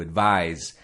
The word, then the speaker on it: advise: the verb to advise it sounds like a Z but it's spelled a DV is he to advise and the noun is